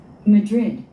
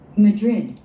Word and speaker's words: Madrid: 두 번째 단어는 Madrid, Madrid, Madrid. Madrid, Madrid. 네, 액센트가 두 가지 발음이 있습니다. 맨 앞에 Madrid 하는 사람이 있고, Madrid.